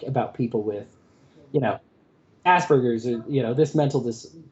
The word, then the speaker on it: Asperger's: asperger's right and um i love the way you pronounce it too it's like asperges which is so much better than the american pronunciation of asperger's like come on but yeah exactly i was like oh yeah it sounds like asparagus it's much more relatable